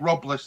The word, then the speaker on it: Robles: Robles, that's how you pronounce his name.